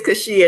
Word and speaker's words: Cachia: Did I pronounce that right? It's Cachia.